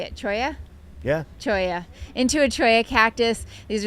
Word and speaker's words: cholla: Cholla.